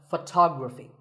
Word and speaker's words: photography: we say photograph but photography so the first syllable becomes and the stress goes to the second syllable ography so photography in the same way